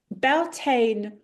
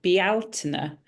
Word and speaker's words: Bealtaine: And Beltane, or I think the proper way to say it, and I will stand to be corrected, is something like Bealtaine.